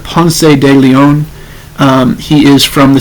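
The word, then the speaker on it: Ponce de León: street here in Atlanta called Pon Leon it is named after him but they say it wrong it is Juan Pon de Leon um he is from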